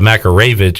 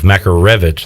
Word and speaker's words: Makarevich: since he got here instead of macroravidge it's rev makarevich like a car so i was like